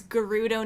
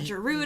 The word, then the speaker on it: Gerudo: some voice acting and i realized it's gerudo not gerudo no i realized there were so many things i remember getting into very heated debates about it's the gerudo not the gerudo and